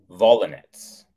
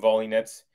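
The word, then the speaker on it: Volynets: Now, I think it's pronounced Volinets, but I'm saying Volinets because she's a tennis player and her last name is spelled V-O-L-Y. So that's almost like volley. And then N-E-T-S, V-O-L-Y-N-E-T-S, Volinets.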